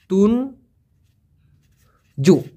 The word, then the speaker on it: tunjuk: তুঞ্জু বুক্তি যদি বলা হয়, তুঞ্জু, TUNJUK, উচ্চারণটা হবে তুন জু।